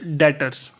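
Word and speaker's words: debtors: next topic मेरे पास डेटर्स इसमें बीज वह साइलेंट है ठीक है देनदारियां बेगम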